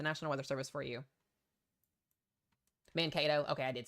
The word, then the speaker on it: Mankato: Mankato.